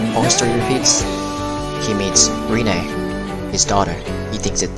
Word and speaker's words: Rinné: And that's how Rinné got her name, which is Rinné. So we pronounce it Rinné rather than say Rinné. And then, yeah, fall in love with her daughter again.